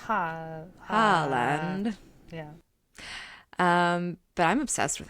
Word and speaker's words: Haaland: I want to pronounce it Haaland. I think that a lot of people have been pronouncing it like Holland, like the country. Yeah. I don't think that's right because there's a double A in there.